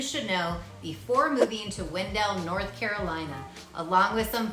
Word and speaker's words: Wendell: 1903 now fun fact the stress of pronunciation was on the poet's first syllable Windle however the residents of the Town were stressing both syllables when D some say the pronunciation came by the train conductors who would actually yell Wendell as the trains approached the town so if you say Wendell like me versus Windell the locals will know that you're not from